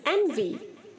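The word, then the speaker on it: envy: एनवी, एनवीड, एनवीड। ईर्ष्या करना, किसी से जलन करना, एनवीज, एनवीइंग। यहाँ पर जो बच्चों वी के आगे वाई है वो ई की तरह प्रोनाउंस होगा, एन वी।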